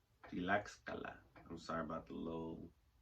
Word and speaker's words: Tlaxcala: social plan, claiming for the states of Guerrero, Michoacán, and Tlaxcala, Puebla, and I know I'm saying that wrong.